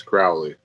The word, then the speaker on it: Crowley: I always want to say Crowley because of Aleister Crowley. Yeah. Well, that's how it's pronounced in the movie is Crowley. Is it? I see. I was saying it like that, and Casey's like, it's Crowley.